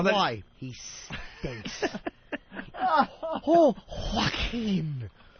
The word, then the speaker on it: Joaquin: Oh, Joaquin. Anybody with a silent J in the beginning of their name is Joaquin.